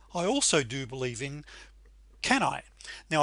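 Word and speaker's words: CANI: However, I also do believe in Kanai. Now, I believe Tony Robbins pronounces that slightly differently. I think it's kunai, which stands for constant and never-ending improvement.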